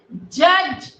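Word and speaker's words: judge: Second जज. D and E is silent.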